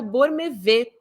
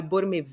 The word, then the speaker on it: Bormevet: Metrópolis, inclusive o Bormevet, se escreve, né, Bormevet, mas acredito que se fale Borme, que é a pronúncia do nome dele.